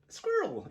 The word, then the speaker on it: Sqiirl: Squirrel, it might be pronounced, but I think it's Squirrel because it's SQIIRL, SqiirlMods. I'll put a link in the description and maybe flash it up on the page magically.